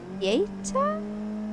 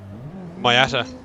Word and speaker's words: Miata: I have no idea how to pronounce that car name. What type of cars did he say? Like retros? Mieta? AE86? Miata.